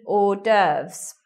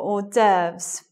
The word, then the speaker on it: hors d'oeuvre: meal, they are called hors d'oeuvres, singular hors d'oeuvre. Right. Doesn't sound anything like the way it's written there. If you haven't seen that word before written down, you could get it wrong.